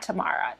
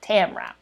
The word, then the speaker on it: Tamra: So it's Tamra, right? Not Tamara. Tamra.